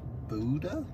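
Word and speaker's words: Bodø: for the day today is to go to Boda I think is how it's called or Bodo but I think it's actually pronounced Buddha something like that anyway all the way up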